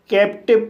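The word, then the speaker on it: captive: को वा पढ़ा जाएगा, ई साइलेंट रहेगा। इस तरह से कैप्टिव पढ़ा जाएगा।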